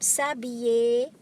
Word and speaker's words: s'habiller: Next, we have the verb s'habiller, to get dressed. Je m'habille, tu t'habilles, il, elle s'habille. Please take note, the L is silent, it becomes Y.